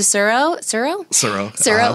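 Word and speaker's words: Tsuro: But she's actually the one that gave my parents Settlers of Catan and Pandemic, and to Suro, no T, and the T is silent.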